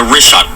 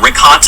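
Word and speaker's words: Richat: of these concentric circles, tell him yet the rishot. R I C H A T. It's worth mentioning that. Yeah. In the first couple, I just want to say it's Rishot. I used to call it Rickot.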